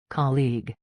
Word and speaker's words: colleague: The first part sounds like ca and the second part sounds like league. Colleague. Say it fast and smooth.